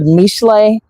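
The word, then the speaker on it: משלי: It's called Proverbs is the word mishle.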